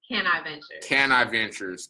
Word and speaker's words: Caniventures: Caniventures.